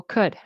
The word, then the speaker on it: could: And very important the L we do not pronounce the L. Okay. So could could I right in